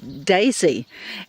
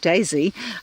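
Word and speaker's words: DESY: but who this who one is called Daisy but it's spelled d-e-s-y so I looked it up and lo and behold what did I find but in this place called Daisy um they have they've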